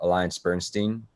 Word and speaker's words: AllianceBernstein: And you're working at a place called Alliance Bernstein.